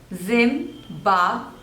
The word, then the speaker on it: Zimbabwe: and the last one is Zimbabwe Zimbabwe Zimbabwe there are three syllables and this dress is on the second one Zimbabwe Zimbabwe Zimbabwe Zimbabwe Zimbabwe Zimbabwe